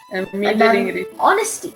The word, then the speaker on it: honesty: means jeffy was right the age is silent because it's from an old french word which is also related to an old latin word which is also related to an old english word so honesty has its